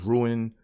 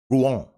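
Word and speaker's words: Rouen: to save my life at first I thought it was ruined or Ron or ruin but it's ruin Ruan I watch somebody from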